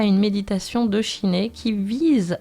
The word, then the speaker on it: Shiné: vous invite à participer à une méditation de Shiné qui vise à vous faire accéder au calme de l'esprit. Effectivement, Shiné, alors ça s'écrit S-H-I-N-E, je ne connaissais pas, cela signifie calme mental en tibétain.